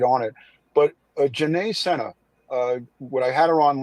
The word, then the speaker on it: Sena: And she pronounces her last name Sena, not Sena, just so you know.